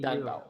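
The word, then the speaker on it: đàn bầu: um, the the word Danbao. So the spelling of it, the first name Dan, Dan, and the last name Bau, Bao. So BAU, Danbao. like Hambao. Yeah, like Hanbao.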